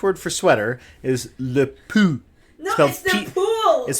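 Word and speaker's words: pull: work the French word for sweater is the Pooh is spelled PU ll there's no e on the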